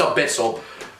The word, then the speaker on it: abyssal: and I've never actually known how to like pronounce it. So okay, abyssal. It's abyssal.